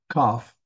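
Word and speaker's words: כ: Kaf. Notice we have three here. We've got one with a dagesh. When you have that, it sounds like a K.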